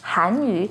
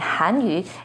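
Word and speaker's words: 韩语: embarrassment a quick example the peeing and tone for hand you is with a fourth falling tone on on Han hanu the p and tone for hanu has a second Rising tone on hanu they sound quite close right but hanu is Chinese language and hanu is actually Korean language don't get them mixed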